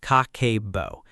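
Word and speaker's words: 家計簿: Habit one, Kakeibo, the 25-year-old budgeting method. The first habit is called Kakeibo, pronounced Kah-keh-boh.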